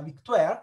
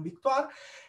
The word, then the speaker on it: victoire: rinascimentale quel di tokyo si pronuncia la victoire non victor to the floor e